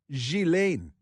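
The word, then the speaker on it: Ghislaine: Epstein's accomplice, Gilain Maxwell. It's spelled Gizlane, but it's pronounced Gilain.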